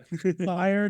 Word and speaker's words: FHIR: In the FHIR community, because FHIR is pronounced fire.